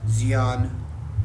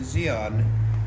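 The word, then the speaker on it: Di An: a helicopter unit in Xi'an, spelled D-I-A-N. I believe the D is silent, close to Saigon and Cam Ranh Bay.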